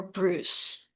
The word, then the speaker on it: Bruce: Beautiful Tiger by Christopher Bruce, which rhymes with juice.